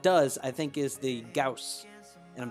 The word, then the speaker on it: Gauss: The only one that does, I think, is the Gauss.